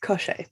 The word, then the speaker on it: Koschei: Oh, I shouldn't have brought this up because now I have to try to pronounce Koschei? Koschei the Deathless. Koschei, yes, the Deathless.